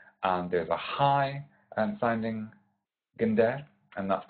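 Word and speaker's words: gendèr: an instrument called gender, not gender, gender. It's just a hard G, and we emphasize the second syllable, so gender.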